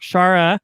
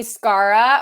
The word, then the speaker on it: Schara: can't even talk shara i'm saying that right correct yeah you did i'm impressed good job yeah i know well do people mispronounce it all the time i'm sure oh yes all the time they call me scarra or scara and i'm like but who would name their kid that i know